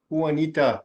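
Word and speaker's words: Juanita: next one was who huanita Janita I don't know how you pronounce that there Wanita and that's a cover to Wanita Wanita that's how you say it Wanita Wanita yeah that is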